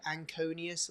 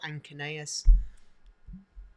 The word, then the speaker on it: anconeus: Again, couple of pronunciations, however you want to say it. Anconius or anconeus, whatever you want.